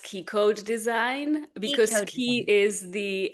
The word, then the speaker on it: Ki-CODE: she has a unique modality that she calls Kai code. Am I hopefully I'm pronouncing it right? She'll let us know if I Is that right, Alice? K. It's pronounced key code design because keyi is the actually Japanese word for chi.